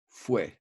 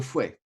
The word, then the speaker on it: fouet: When you say the word fouet, you don't pronounce the T.